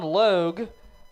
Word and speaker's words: Logue: And we're happy to have Sean Logue. When I asked him how to pronounce his name, he said it rhymes with Vogue.